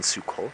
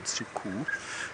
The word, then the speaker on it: Suku: In Suku, sorry, not in Suko, in Suku.